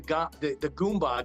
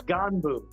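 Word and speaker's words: Gganbu: I always say gumbo gang. What is it? Leanne was calling us the Goomba gang. It's Ganbu. G-G-A-N-B-U, Ganbu gang, yes.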